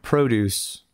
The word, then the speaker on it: produce: so it's yes the if the emphasis is on the second syllable it's the verb and the noun gets the emphasis on the first so produce produce you